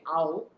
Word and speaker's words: I'll: আই উইল, এটা উচ্চারণ যখন একসাথে হবে বলেন শর্ট ফর্মে কি আউ, আউ আউ আউ, তাহলে কি বলবেন আউ আউ আউ, এইরকম হবে উচ্চারণটা।